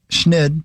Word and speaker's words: schneid: Schnid is a slang term uh typically pronounced schnid.